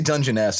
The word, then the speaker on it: Dungeness: Dungeness? I say Dungeness. I think both are acceptable.